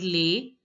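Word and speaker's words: les: live in this world lay the S is not pronounced generally I told you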